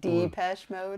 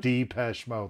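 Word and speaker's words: Depeche Mode: origin deepest mode did d-pesh mode d-pesh mode like letter d dot best mode okay and that's how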